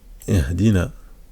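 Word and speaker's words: اهدنا: Donc la lettre ha, quand elle a une soukoun, donc une absence de voyelle, elle se prononce comme ça.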